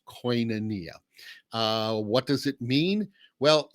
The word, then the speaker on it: koinonia: that comes up is what in the world is this word coinca nikki or kikanoki or well it's koinonia and a lot of